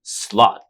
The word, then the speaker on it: Slaught: Hey everybody, super excited to have Don Slaught here. It's funny, I like the way that you spell his last name, right? It's not slot like a slot machine, but It's pronounced that way.